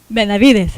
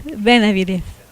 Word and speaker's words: Benavides: Benavides? Okay. Close? Say it for me. Benavides. Benavides.